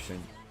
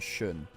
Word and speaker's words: Shin: I'm trying to fix my pronunciation of Shin, which is not Shun.